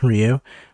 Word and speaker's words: Ryu: she's never gonna replace Rio or Ryu however you want to pronounce it it's Ryu I'm calling it Ryu you can kick rocks